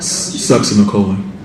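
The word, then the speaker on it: succinylcholine: And how do you pronounce it again? Sucks in the colon.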